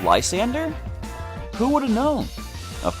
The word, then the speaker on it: Lysandre: Did you know, based on Generations, that Lysandre's name is actually pronounced Lysander?